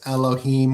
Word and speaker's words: Elohim: the Hebrew words like L he was like no it's Elohim which hem is plural that it's the gods